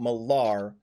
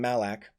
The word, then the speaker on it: Malar: she's probably talking about Malar, who I mispronounced in the last session. I called him Malak.